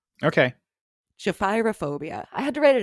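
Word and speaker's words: gephyrophobia: learned today i had to look up the pronunciation on this it's japhyrophobia okay japhyrophobia i had to write it out phonetically it's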